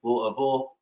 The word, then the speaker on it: Louisville: 2020, and that is the proper pronunciation, not the proper spelling, Louisville, Kentucky.